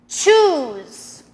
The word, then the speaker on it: choose: Choose. Now that's very, very different from the word shoes.